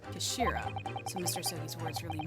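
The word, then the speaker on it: 頭: It's written as head in Japanese, but it's pronounced Kashira, I believe. Kashira.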